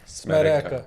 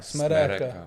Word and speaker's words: смерека: So pronounce after me. Смерека. Smereka. Смерека. Smereka.